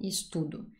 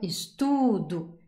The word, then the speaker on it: estudo: de vous dire que c'est toujours l'avant-dernière syllabe qui est la syllabe forte. Donc, eu amo, eu gosto, eu estudo.